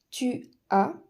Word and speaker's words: tu as: donc ce sera j'ai tu a avec un S qui ne se prononce pas il elle on a